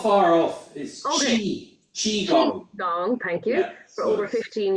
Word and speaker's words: Qigong: Am I pronouncing that correctly, Kevin? For not not far off is Chiong, thank you for over 15 years.